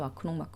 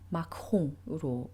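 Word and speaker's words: Macron: 우리가 이제 프랑스 대통령인 마크롱도 이제 한국 언론이나 뭐 한국에서 마크롱 이렇게 이야기를 하지만 사실은 이제 마크홍으로 발음이 되고요.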